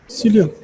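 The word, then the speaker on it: psyllium: ई silent है यहाँ पे, सीलियम।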